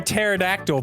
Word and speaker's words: pterodactyl: that was actually funny why can't you hear a pterodactyl pee I had know the answer cuz the p is silent sure is English man